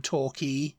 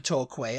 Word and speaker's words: Torquay: Yeah, I've been down to Torquay, and I'm like, it's Torquay. And I said, no, it's Torquay. It's spelt like that. Yeah. And I'm like, key is how it's pronounced.